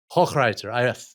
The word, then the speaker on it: Hochreiter: Hochreiter. So my apologies for mispronouncing.